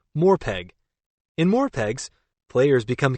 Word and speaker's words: MMORPG: multiplayer online role-playing game most people pronounce This Acronym more peg in more pegs players